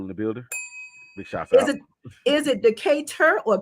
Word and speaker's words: Decatur: is it Decatur or Keda it depends on where you from you know I'm from the south so it's just yeah yeah I'm from Decatur you know it's spelled tour but it's too what I don't even